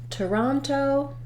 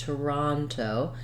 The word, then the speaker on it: Toronto: what I mean there in Toronto the raw syllable is stressed Toronto and so um this letter O is going to say ah often in English letter